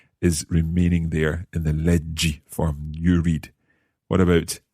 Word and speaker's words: leggi: Leggi. Okay, so there's no H or anything like that in there. It sounds as it does in the infinitive, leggi.